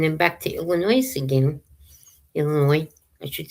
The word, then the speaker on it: Illinois: Illinois, I should say cuz you don't pronounce the S on the end.